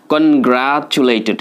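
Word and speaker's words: congratulated: বানান তো জটিল আছে, দেখেন কনগ্রাচুলেটেড, এই টু মানে টটা এখানে চ সাউন্ড হচ্ছে, কিন্তু খেয়াল রাখবেন।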